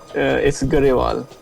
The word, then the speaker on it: Garewal: It's Garewal. I always say gruel. Yeah, I know. Many people say grew. You grew up. Okay, so yeah, it's Garewal. So yeah, that's how we pronounce it.